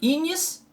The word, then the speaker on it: ignis: Inácio, ignis vem de fogo, né? Ignis, né? Ignição, ignis, mas se pronuncia assim, né? Ignis.